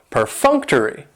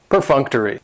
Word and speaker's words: perfunctory: that is perfunctory and perfunctory has four syllables and the stress is on that second syllable that funk / funk to read that third syllable has the schwa and it's going to end with that long e sound perfunctory perfunctory and if